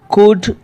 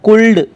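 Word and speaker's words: could: तो पाम, कुड, walk, इनको पाल्म या कुल्ड या वाल्क ऐसे नहीं पढ़ेंगे, इनका सही उच्चारण रहेगा पाम, पाम, कुड, कुड, और इसको पढ़ेंगे वॉक, वॉक।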